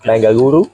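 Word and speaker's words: Bengaluru: okay then we pass through bangalo bangaluru sorry bangaluru bangaluru the right pronunciation okay and then we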